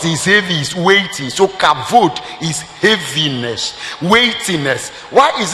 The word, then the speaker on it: kavod: You can say kavod. The word b and v in Hebrew, so b can be pronounced as v, kavod.